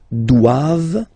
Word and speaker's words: doivent: All right, and then the last one, ils doivent. So same thing, classic ending for the plural form, E-N-T here, okay, but then you don't pronounce it.